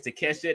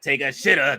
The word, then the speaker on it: Takeshita: Fletcher says Takeshita not take a shitter.